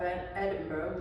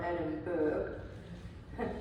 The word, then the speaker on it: Edinburgh: are some shots of Edinburgh which is pronounced Edinburg not Edenberg is the capital city